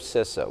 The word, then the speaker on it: CISA: There's always a debate about is it CISA or CISA or CISA, so CISA is the correct pronunciation.